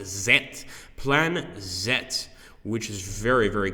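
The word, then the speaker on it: Z-Plan: so he's saying that the plan is actually pronounced zet plan zet which is very very cool okay so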